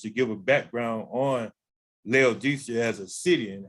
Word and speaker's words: Laodicea: church with which is laodicea i think some pronounced leo dakia but we're going to deal with it like here for what most people know of it as laodicea uh the church was